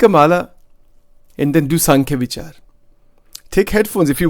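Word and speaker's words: सांख्य: Sankhya Vichar, S-A-M-K-H-Y, S-A-N-K, you can use an M or an N there. But it is pronounced as Sankhya.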